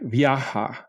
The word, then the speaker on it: viaje: This is true words like viaje, trip, which will sound like viaja.